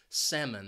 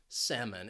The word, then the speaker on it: salmon: popular fish word word it has two syllables and the stress is on that first syllable salmon that second syllable has has that schah sound it's an unstressed syllable salmon and the reason why